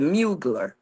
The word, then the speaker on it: Mugler: Mugler.